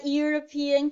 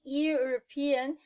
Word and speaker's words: European: Então, eu falo, Spain is a European country. Né? A Espanha é um país europeu. Por quê? Porque esse E de European vai ter o mesmo som de yes, yacht, young, yellow.